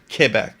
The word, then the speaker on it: Quebec: Yeah, it is Quebec. If you want to pronounce it right and you want to impress everybody, which I guess will not happen, uh, you stick with Kebec.